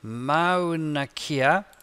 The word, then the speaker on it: Mauna Kea: So Mauna Kea. That's how you say it. New paragraph. Insert. Online pictures. And I forgot how to spell Mauna Kea.